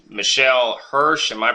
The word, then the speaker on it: Hirsch: your time today and it's been m Michelle hirs am I pronouncing that right yes h i r s